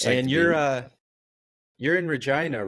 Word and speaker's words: Regina: and uh it's it's it's a funny pronunciation because we uh in Canada retain a lot of the British uh pronunciation for for a lot of the the names and so it's after named after Queen Regina or Regina and back in in